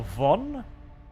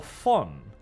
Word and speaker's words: von: know if they were going for Von as in the the 40K pronoun pronunciation or fun the German pronunciation as they they've used